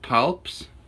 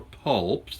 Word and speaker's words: palps: So we have this things called palps, or pulps, depending how you pronounce it, P-A-L-P-S, pulps, which are quite long.